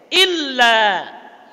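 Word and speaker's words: إلا: Illa. Coba lamnya tidak usah ditasydid. 1 2 3. Berubah enggak maknanya? Kalau kita tasydid lamnya, illa itu artinya selain atau kecuali.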